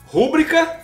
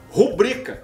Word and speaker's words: rubrica: Por exemplo, pronunciar rúbrica e não rubrica, que é o certo.